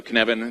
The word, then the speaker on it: Cynefin: So Cynefin, it's not pronounced Cynefin, it's pronounced Cynefin. That's kind of the first test. It's like one of my colleagues said, it's like Kevin with a sneeze.